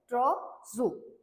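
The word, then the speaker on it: trousseau: correctly spelt आहे आणि याचं प्रोनाउन्सिएशन काय आहे ट्रॉझो प्रोनाउन्स असं करू शकता तुम्ही याला ट्रॉ ओके हे प्रोनाउन्सिएशन करता युज करा पण याची जी स्पेलिंग आहे हे फक्त फॉर फॉर प्रोनाऊन्सिएशन कर्ता आहे ही फक्त ट्रॉझो आणि त्याची करेक्टली जी स्पेल आहे ती आहे टी आर ओ यु एस एस इ ए यु ओके सो ट्रॉझो म्हणजे काय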